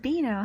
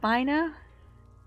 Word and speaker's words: Beano: It's pronounced Beano, huh? Not Bino?